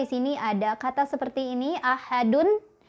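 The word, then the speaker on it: أحد: ada kata seperti ini, ahadun. Ketika berhenti kan dunnya jadi wakaf, jadi mati ya, jadi sukun. Maka kita bacanya jadi qalqalah kubro. Ahad, ahad, gitu ya, mantul. Yang salah misal ahad, nggak mantul ya.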